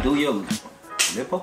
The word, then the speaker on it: Dua Lipa: Do your Lipa? Dua Lipa. You gotta say it like that.